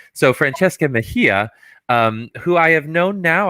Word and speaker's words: Mejia: always want to say is it mejia yeah and i think i said like yeah or something i said